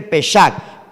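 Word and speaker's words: Pesaj: Bien, ese concepto que usted ve allí se escribe así, se lo voy a deletrear: P-A-S-A-J, Pashak. También se escribe Peshak, P-E-S-A-J, Peshak, que significa Pascua.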